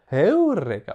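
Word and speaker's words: εὕρηκα: Et donc cet accent sur le U est un accent aigu qu'on devait prononcer comme une quinte, c'est-à-dire à peu près l'intervalle entre un Do et un Sol. Do, Sol. Donc on devait prononcer comme Eureka, vous entendez? La voix monte, puis redescend.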